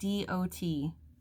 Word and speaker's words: Peridot: Oh, I have no idea how to pronounce this. Peridot? I wish I knew how to flip this camera around, but it's Peridot.